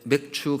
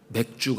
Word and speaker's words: 맥추: 첫째 추 일에 이렇게 맥추 감사 절로 지키고 있습니다 그런데 발음을 잘 해야 되요 맥주 감사 주일 주름을 안 주거든요 밑이 아니라서 잘 들